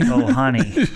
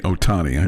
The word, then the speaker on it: Ohtani: Yeah, I guess I kind of butchered his name, didn't I? Shohei Ohtani. Shohei. Shohei Ohtani.